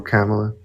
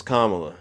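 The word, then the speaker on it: Kamala: Did you vote for Did you vote for Camela? And why did you vote for her? Well, I said her name is Kamla.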